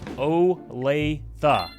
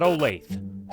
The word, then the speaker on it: Olathe: It's Olathe, not Olathe.